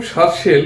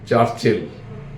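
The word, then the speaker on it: Cherchell: শহর আধুনিক শহর সারসেশেলে উচ্চারণটা কিন্তু সারশেল কিন্তু ওরা লিখবে সি এইচ ইউ আর সি এইচ ই এল চার্চেল যেরকম চিম্পাঞ্জি হয়ে যায় শিম্পাঞ্জি চিকাগো হয়ে যায় শিকাগো এটা ফরাসিদের অবদান তাহলে শ্যাম্পেন কথা শ্যাম্পে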